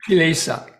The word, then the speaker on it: kilesa: Chalaces, is that the right pronunciation? Kilesa.